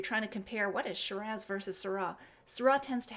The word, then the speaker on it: Shiraz: Of course, we know Shiraz, pronounced like pizzazz, Syrah, even though it looks like Syrah.